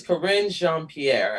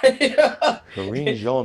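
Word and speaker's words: Karine Jean-Pierre: want to say congratulations to, I think it's Corinne Jean-Pierre. I want to say it. You got it. You got it right. My French is not. Corinne Jean-Pierre.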